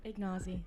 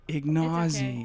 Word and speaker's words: Ignozzi: Today's episode, we are joined by the wonderful Anika Ignozzi. Did I pronounce that all right? Ignozzi. Ignozzi.